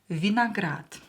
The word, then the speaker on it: виноград: Ударение на букву А. Виноград.